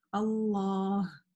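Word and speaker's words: الله: Но, тем не менее, несмотря на это, многие сестры забывают, как-то не задумываясь, произносят ее без алиф, да, то есть, например, Аллах, Аллах. Нет, у нас там есть алиф. Аллах.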